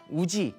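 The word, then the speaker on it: 氏: 이 시라는 게 우지, 일본어로는 우지라고 읽어요. 장음 발음을 표시를 하지 않고 우지라고 읽습니다.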